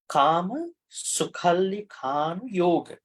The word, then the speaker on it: Kāmasukhallikhānuyoga: So Kāmasukhallikhānuyoga. Yo chayang Kāmasukhallikhānuyoga. Hino gamo potujjaniko anariyo anattasamihito. Okay, great. Kāmasukhallikhānuyoga. Okay. Can everybody pronounce that?